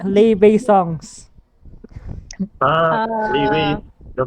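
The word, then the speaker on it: Laufey: Leeway, Uh, the pronunciation of his artist name.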